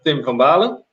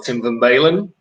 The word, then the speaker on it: Tim van Baalen: Well, I'm Tim van Baalen, as you pronounce so well, Tim van Baalen.